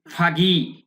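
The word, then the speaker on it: foggy: ওয়াজ ছিল ভেরি খুবই ফাগি। এই উচ্চারণ কিন্তু ফাগি, আমেরিকান উচ্চারণ।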